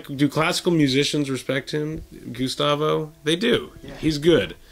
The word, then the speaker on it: Gustavo: I think me and Gustavo are going to be touring after this. Is that how you pronounce his name?